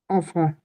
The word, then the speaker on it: enfant: beaucoup travailler avec les dash jeunes, Enfant. enfants, very Enfant. Nice. It's नॉट एन, एन नहीं बोलना है वाला, क्योंकि दोनों के बाद वोवल नहीं है।